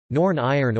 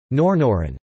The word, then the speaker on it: Norn Iron: refer to Northern Ireland, derived from the pronunciation of the words Northern Ireland in an exaggerated Ulster accent, particularly one from the Greater Belfast area.